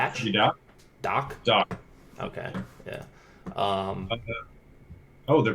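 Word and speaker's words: Dach: that so Strohm Kane Curt how do you pronounce this Kirby guys last name is it - you got doc doc okay yeah oh the price is going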